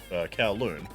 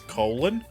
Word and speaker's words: Kowloon: found lying around in Kowloon. My brain keeps telling me to pronounce it as colon. I know that's wrong, but my brain keeps telling me to do it anyway. The only issue is whether